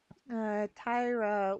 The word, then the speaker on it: Tyra: Tyra would be pronounced Tai like tiger and Ra like an era.